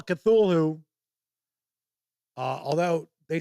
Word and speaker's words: Cthulhu: Uh Chris Lundren says, "Darn you for introducing me to Call Cthulhu."